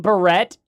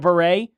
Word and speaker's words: beret: Green barret. Yeah. Instead of beret.